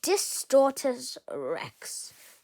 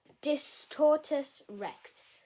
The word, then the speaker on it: Distortus Rex: My man almost getting eaten by the Distort Rex. Distortus Rex. Okay, let me say that again. Distortus Rex.